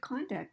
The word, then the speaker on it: conduct: He had really good conduct at that meeting today. That's behavior. But conduct on the second syllable is when we do the verb, when we're actually creating something with music and leading the band, right?